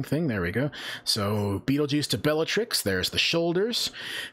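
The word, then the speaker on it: Betelgeuse: have heard before uh his shoulder star is named Beetle Juice or Bal geese I've heard it pronounced that way I don't think that's right I think it's actually Beetle juu uh beetle juu is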